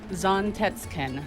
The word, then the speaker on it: Zantetsuken: It's pronounced Zontetsken. Zontetskin.